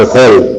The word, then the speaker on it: hall: El hall, nos vemos en el hall, cuando decimos el hall, por ejemplo, por el vestíbulo, esa H vendría con el. Entonces, en esos casos se pronuncia, ¿no?